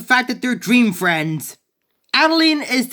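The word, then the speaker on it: Adeleine: you heard that right her name is actually pronounced Adeline arguments aside she's still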